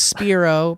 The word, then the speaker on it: Spiro: anyway love you guys alex spiro pronounced like spyro the dragon p.s here's a funny